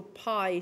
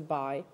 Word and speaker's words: pi: pre-order this is your pie symbol it's pronounced pie as opposed to by and historically i can